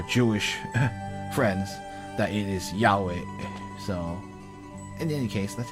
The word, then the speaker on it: Yahweh: Actually, I think some Christians still use Jehovah, but the pronunciation that's actually more accurate is Yahweh.